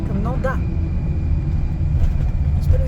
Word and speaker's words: Nendaz: Eh bien écoutez, on revient de Nandaz. Donc non, c'est pas Nandaz, c'est Nanda. Ouais. Nanda. Oui. Nanda. On Prononce dit pas pas le le Z, Z. c'est comme Chamonix, on dit pas le X.